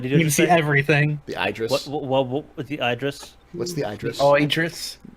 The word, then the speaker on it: Idris: make their mind no correctly it is Idis just like the actor ID El Elba but it's but it's